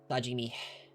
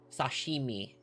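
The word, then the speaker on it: 刺身: Sajimi. Sashimi.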